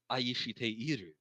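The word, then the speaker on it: 愛して: a 29th one wow this one's pronounced in three different ways in my time yep it depends on how they smash syllables together and okay the that word is correctly actually aishite because is the correct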